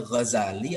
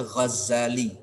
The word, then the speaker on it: Ghazali: kain wol itu disebut ada yang bacanya Ghazali ada yang baca khazali boleh dua tuh bodohnya bener kalau yang